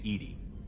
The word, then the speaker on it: EDI: airlock is a jar why are you named Edie Ed is the phonetic pronunciation of Eed that is an acronym for